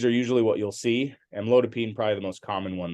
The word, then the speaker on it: amlodipine: p i n e which is not pronounced Pine it's actually pronounced peen um and so the most common ones we would see are amlodipine uh felodipine or nifedipine